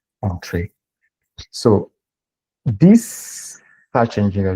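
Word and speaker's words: Entrez: So on-trace is spell this, and this is how you pronounce it, on-trace.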